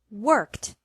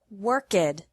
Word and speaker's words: worked: decided ended guarded exploded e d is pronounced like t with no extra syllable after verbs ending in s x k p f s h and c h sounds this means that the